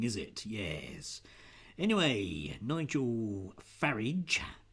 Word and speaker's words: Farage: Anyway, Nigel Farage, because I'm always told it should rhyme with garage, so we're going to call him that, I think, from now on.